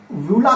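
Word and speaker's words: uvula: नाम रहता है ना इसका नाम वूला कहलाता है स्पेलिंग ये होता है यू साइलेंट है भुला हम लोग बोलते हैं ये क्या करता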